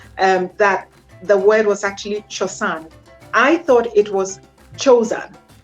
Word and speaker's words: Chosan: I chose Chosan because it's actually pronounced Chosan, and it means tradition, culture. It's a wall-off word.